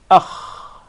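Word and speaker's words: خ: We say alif with fatha, then kha with sukoon, it will be akh. Akh. So the articulation point is the closest part of the throat.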